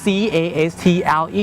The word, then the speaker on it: castle: ๆ cle นะ ครับ c a s t l e นะ ครับ ออก เสียง ว่า Castle นะ ครับ Castle นะ ครับ ไม่ ใช่ cust นะ ครับ เพราะ ว่า C tle